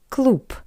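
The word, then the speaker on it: клуб: The word cloop which means club. The voiced consonant b change to p.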